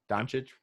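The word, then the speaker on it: Dončić: They've got Porzingis and Doncic. Is that how you say his name? Yep, Doncic.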